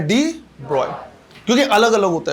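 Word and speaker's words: de Broglie: जो प्रोनाउंसिएशन होता है वो क्या होता है? ब्रॉय, है ना? तो नाम हमें कैसा बोलना है? डी ब्रॉय।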